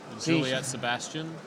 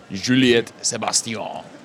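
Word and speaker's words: Juliette Sébastien: Juliet Sebastian, which is the American pronunciation. I don't know. Juliette Sebastien. We'll go with that. That's the French way.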